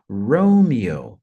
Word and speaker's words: Romeo: forte a letra R Romeo Romeo Então a primeira sílaba a mais forte ah e o s